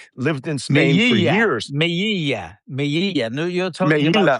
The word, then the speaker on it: Melilla: Melilla. No, you're talking about Melilla, pronunciation. Melilla. Melilla. Double L, so it's a J. Melilla.